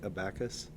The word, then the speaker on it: abacus: The stress is on the first syllable.